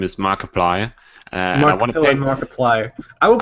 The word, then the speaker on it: Markiplier: I just want to say you called him marip pillar his name is Markiplier Markiplier I will pronounce it the way I want to I